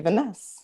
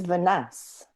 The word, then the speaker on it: Vaness: I've been saying Vanes, but then I do always kind of butcher everybody's names. Actually, a lot of people say that, but it is Vaness.